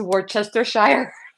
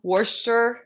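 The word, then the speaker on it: Worcestershire: try this I spell I say it the way I spell it which is Worchester Shire anybody from England is gonna laugh at me but it's Worster is that how you say wer wer wer I mean why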